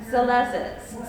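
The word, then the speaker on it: Salesses: And it's by Matthew Salezes. So Matthew spelled like it sounds, and Salezes spelled S-A-L-E-S-S-E-S.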